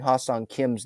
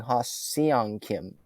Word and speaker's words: Ha-Seong Kim: Um, like Melanie Newman, she was pronouncing Ha-Sung Kim's name wrong. She was saying Ha-Seong Kim instead of Ha-Sung Kim.